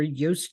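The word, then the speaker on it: Joost: started this I believe his name is Juiced j-o-o-s-t but you don't pronounce the J's so that's where Yost came from for the Americans and uh he left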